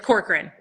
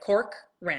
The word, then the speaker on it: Corcoran: It's Corcoran. Okay, I kind of said it right. Yeah, I it's kind of said it. right. then the last name is like Corcoran.